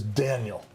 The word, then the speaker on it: Denjell: And because I grew up in the States, my name is pronounced by my mother as Daniel.